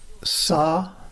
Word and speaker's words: Sa Ta Na Ma: S-sa-ti-ta-na, N as in Nancy, na, and ma as in mama. Sa-ta-na-ma. That's four syllables, but it's actually five sounds in Nad Yoga, which is the yoga of sound. S-t-n-ma. The ah goes through all the syllables.